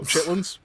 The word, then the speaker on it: chitterlings: Oh, chitlins. That's not what they call it. Chitterlings. It's spelled chitterlings, but nobody calls that. It's chitlins.